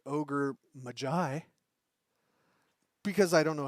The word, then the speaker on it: Ogre Magi: how to say it I thought it was ogre Magi that is not correct it is the ogre Mai because I don't know